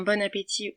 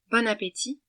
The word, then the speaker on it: bon appétit: Attention, ça se prononce bien « bon appétit » sans T à la fin, car il est muet, et non pas « bon appétit ».